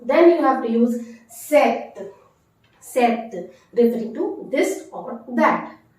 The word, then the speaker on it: cet: can't use sir and instead of sir you have to use set cet set said to be